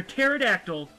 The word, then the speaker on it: pterodactyl: and say no because the P is silent oh oh it's true